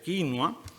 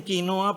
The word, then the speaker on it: quinua: Lima no tiene remedio Porque allá dicen quinoa para ningunear al quechua pero en España todo se arreglaría si se descubriera que la pronunciación inglesa de que no a quinua porque el hablante peninsular Pérez Picasso podría aplicar una regla de tres directa vídeo es a vídeo como quinoa es a quinoa Y si a pesar